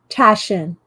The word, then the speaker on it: Taschen: Taschen.